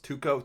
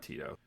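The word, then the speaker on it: Tuco: right here uh it's tuko kuko Salamanca oh it's close I was close tuko tuko that's it not Tito that's it I knew it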